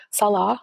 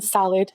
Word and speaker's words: Salah: They mispronounce my Syrian husband's name, Salah, which means prayer in Islam, by the way. They call him Salad right in her thumbnails.